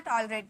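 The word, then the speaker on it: tolerate: टॉलरेट टॉलरेट बर्दाश्त करना टॉलरेट देखिए आर के बाद ए है यानी कि आर का उच्चारण यहां पे निकलेगा टॉलरेट बोलेंगे ठीक है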